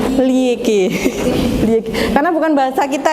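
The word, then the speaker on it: Liège: Apa bacanya? Liege.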